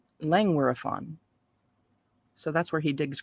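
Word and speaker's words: Llangwyryfon: here in lange were lenguirefon it's l-l-a-n-g-w-y-r-y-f-o-n lang wirefun langueraphon so that's where he digs graves on the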